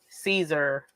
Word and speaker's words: Caesar: That's how you pronounce it, like Caesar salad.